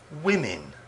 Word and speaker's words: women: the words woman women the o sound in women is pronounced like the i in ink women inc what's this